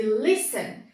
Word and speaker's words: listen: Caso não seja a última sílaba, a sílaba tônica, que é o caso de listen, percebam que a gente pronuncia com maior intensidade o início da palavra lis, na verdade, né? Listen.